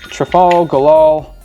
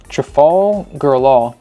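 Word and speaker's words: Trafalgar: Trafal Gal. Trafal Gal. Trafal Golal. Sounds like one word, but that's how you say it.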